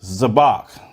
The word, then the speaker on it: Zabach: All right, so Priest Zabach. Now we're saying it right.